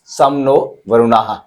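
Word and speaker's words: शं नो वरुणः: लोगो क्या है आदर्श वाक्य सम नो वरुणा प्रोनाउंस सम नो वरुणा याय सम नो वरुणा दे रखा इसका मि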